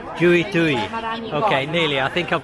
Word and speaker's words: Jui Tui: Jui Tui. Jui Tui. Okay, nearly. I think I've got the pronunciation a little bit better than last year.